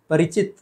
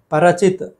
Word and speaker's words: परिचित: परिचित, परचित, परचित गलत है, परिचित होना चाहिए, परिचय, परिचित।